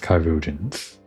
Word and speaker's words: chirurgeons: Okay, so it is pronounced Chirurgeons. Or did I pronounce it Chirurgeons before? Whatever, it's Chirurgeons, I'll remember that. Bear Mistress Leveilleur to the infirmary at once.